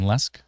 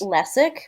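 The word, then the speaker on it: Lesyk: That's Jay uh I don't know how to pronounce his name. Lesk. It's L E S Y K L J I think it's Lesk but I'm not sure.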